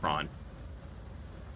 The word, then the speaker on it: Prawn: We'll call it Prawn. It rhymes with Tron, which I heard they're doing a new movie, which not sure how I feel about that one.